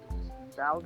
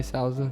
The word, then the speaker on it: Souza: How do you pronounce his name? Salza? Oh, Yes. Jacare Souza.